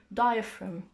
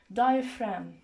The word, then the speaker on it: diaphragm: between the ribs and diaphragm and for the word diaphragm the G is silent we don't pronounce it diaphragm when the instruction is